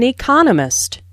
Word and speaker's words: economist: so it is emphasized there are four syllables in Economist with the stress on the second syllable economist he just finished writing just